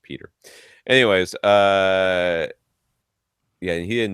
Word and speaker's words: Pieter: Pieter, who last week we call him Pieter or something like that, because he's got it, but he says it's just pronounced Peter.